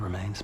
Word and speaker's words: remain: If your love remains pure, you cannot die. If your love remains pure, you cannot die. Remain, the stress is on M.